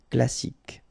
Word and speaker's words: classique: You don't insist on the final E, so you get K as the last sound. Classique.